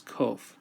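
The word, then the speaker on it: קוף: Kof sounds like the letter Q in English.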